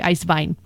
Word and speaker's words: Eiswein: for that is because in Germany iced wine is spelled as one word EIS W ein and I think they actually say ice vine and that is the